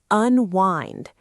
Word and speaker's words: unwind: We use the phrase unwind. This is a beautiful word. Let's look at the pronunciation. Un wind. The I sounds like the word hi. Unwind.